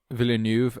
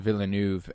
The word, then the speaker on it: Villeneuve: Villeneuve, I feel like is actually how you pronounce his name. I remember hearing people at the Oscars saying Villeneuve, and I was like, oh, Villeneuve. interesting.